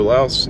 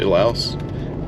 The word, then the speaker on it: Laos: But yeah, so Laos is and you'll hear me call it Lao and Laos. Most Americans say Laos. Everyone else that I've heard say it says Lao.